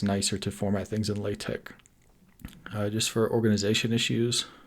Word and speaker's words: LaTeX: like mac techs but lat Tech what just spelled l c x is just pronounced latch I don't know why but it is so on their website